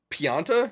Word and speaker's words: Pianta: Pianta? Is that how you say it? Pianta Village?